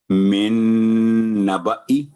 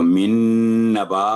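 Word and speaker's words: نَبَإِي: من نبئی، تو من نبا اگر کر دیں گے تو یہ غلط ہو جائے گا کیونکہ الف ایکسٹرا ہے، زائدہ ہے، کراس لگا ہوا ہے.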